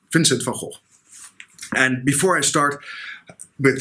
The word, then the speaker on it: van Gogh: I know many people are used to saying Vincent van Gogh or van Gogh, but the Dutch pronunciation is Vincent van Gogh.